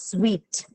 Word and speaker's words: suite: u sound and uh Suite is sweet okay which means it has a semi-viral work in it and then it's followed by a long e long well okay thank